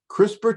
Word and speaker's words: CRISPR: in common usage crispr which is the letters c-r-i-s-p-r but is pronounced like i'm saying a crispr really is